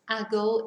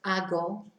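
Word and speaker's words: hago: the first person it's ago h-a-g-o we don't pronounce the h uh so it's just ago um what do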